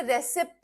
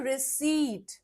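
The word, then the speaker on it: receipt: इज़ रिसीट ठीक है English में इसे रिसीप्ट नहीं बोलते पी साइलेंट होता है हम बोलते हैं रिसीट हम बोलते हैं इसे रिसीट ठीक है मुझे चाहिए एक रिसीट रिसीट दे दो।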